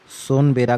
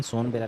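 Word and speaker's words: सुनाबेड़ा: प्रमुख धरातलीय संरचना सोनबेरा का पठार, सोनबेरा का पठार ये कहाँ है, ये मुख्यतः जो है उड़ीसा में है। इसका प्रोनाउंसिएशन सोनबेरा नहीं, इसका प्रोनाउंसिएशन है सुनबेरा, और आंशिक अवस्थिति है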